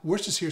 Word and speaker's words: Worcestershire: are gonna be my Worcestershire sauce. And how do you say it? It's not W sauce, it's what's this here sauce, Worcestershire sauce, okay?